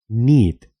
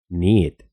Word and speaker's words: knit: palabras como estas, pero con el tiempo esa pronunciación desapareció. Knew, knew, sabía, pasado de know. Knee, knee, rodilla. Knit, knit, tejer.